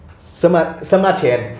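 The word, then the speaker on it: Sima Qian: Herodotus dan Simachen. Semachen ya itu pronunciation Chinese-nya.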